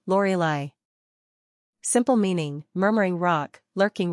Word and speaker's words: Lorelei: three ranking popularity 501 pronunciation Lori Li simple meaning murmuring Rock